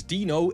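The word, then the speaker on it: Deno: And it's spelled D E N O, but like if you know someone called Dean, especially in the UK, you typically call him Dino.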